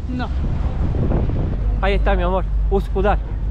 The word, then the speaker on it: Üsküdar: Uskudar. ¿Viste que la U se pronuncia igual que en el estonio de Ux? Por eso no lo puedes pronunciar. Uksudar.